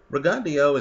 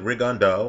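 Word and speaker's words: Rigondeaux: Understand though that Reandio is gonna and I understand many of you pronounce it Rondo.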